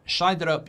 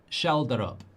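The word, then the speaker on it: Schjelderup: Uh, Shiderup, you can pronounce it. It's Shelderup. There we go, Mr.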